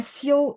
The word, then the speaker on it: 休: Sama show, jadi kan dia XIU. Pas 嗯， baca, X-nya kan berubah jadi S ya. Nah, iya, IU itu bacanya IOU. Show. 有 Bacanya ya, tulisannya XIU.